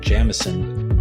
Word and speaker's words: Jameson: By the way, the reason I keep pronouncing it Jamison is that this is how the tour guides